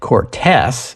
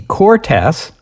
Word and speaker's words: Cortes: I said it Cortes because I thought there was an accent mark on the second syllable. Turns out there isn't, so my bad. Just for the record, it's the Cortes.